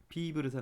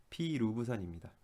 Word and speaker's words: 피루브산: 보통 생명과학 좋아하는 학생들은 이제 파브르 공충기를 이렇게 좋아하기 때문에 피브르산 뭐 이렇게 발음할 수가 있는데 피브르산 아니고요. 피루브산입니다.